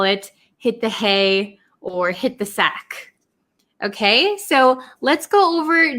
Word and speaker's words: hit the sack: sack hit the sack so this t almost becomes silent and it links with this th hit the sack hit the sack and